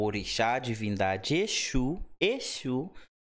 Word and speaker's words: Exu: um espírito ó Exu Exu Exu É Espírito Exu é divindade tem um s com meio que som de ch sh ali é a pronúncia é bem diferente de qual religião saiu